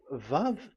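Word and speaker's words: ו: So the word the the the shape vavv is really pronounced vv like vag that is it pronunciation.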